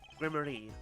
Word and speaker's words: Gramarye: Grammari. Okay. Hey, thank you for telling us how to pronounce it.